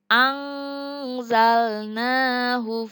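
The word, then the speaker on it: أنزلنا: Yang ketiga di sini ada angzalnahu fi. Angzalna, nun mati bertemu dengan huruf za.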